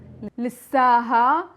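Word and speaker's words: لسّها: And we don't really pronounce the ha at the end, we just make the alif longer. So we say Lissa, Lissa, Lissaki, Lissa, Lissaha, Lissana, Lissakon, Lissahon.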